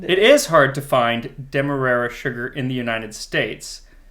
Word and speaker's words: Demerara: So I say Demerara. Okay. And there were people on the Great British Bake Off who pronounced it Demerara.